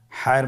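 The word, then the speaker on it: ح: হায়ের মধ্যে কোনো নোক্তা আমরা দেখতে পাচ্ছি না। হা হরফটি কীভাবে উচ্চারিত হবে? হা হরফটি উচ্চারিত হবে কণ্ঠনালীর মধ্যখান হতে। গলা চিপে ধরে আপনি উচ্চারণ করুন।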